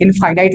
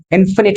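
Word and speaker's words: infinite: Numbers इनफिनिट होते हैं बच्चों, इसको लोग इनफाइनाइट भी बोलते हैं, बट इसका सही प्रोनाउंसिएशन इनफिनिट होता है।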